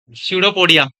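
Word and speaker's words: pseudopodia: इसमें ना, इसमें एक एल कम कर लेना, थोड़ा स्पेलिंग वाला सिस्टम हो जाता है। सीडोपोडिया, सीडोपोडिया, PSEUDO, लिख लिया क्या?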